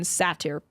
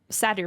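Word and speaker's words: satyr: It's it's pronounced sadier or satier or something.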